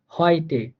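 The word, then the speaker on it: heute: যেমন হয়টে, হয়টে, ইউ এর কারণে এই যে দেখেন এইচ এর পর আমরা ইইউ পাইছি, তাহলে এই ইউটা হচ্ছে একটা যুক্ত বর্ণ, যেটার উচ্চারণ হবে অয় এর মতো করে, তো এই জন্য এটার উচ্চারণ হয়ে গেছে হয়টে।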